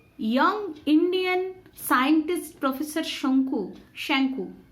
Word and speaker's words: শঙ্কু: রেখেছিলেন তিনি brilliant young Indian scientist professor শঙ্কু শ্যাঙ্কু উচ্চারণটা প্রফেসর শ্যাঙ্কু সম্বন্ধে দু চার কথা বলার পর